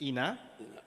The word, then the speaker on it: Ina: We will take the Q&A, and my esteemed colleague, Honorable Ina, I want to pronounce it Aina, but it's Ina, who will then do a small recap before we break for lunch.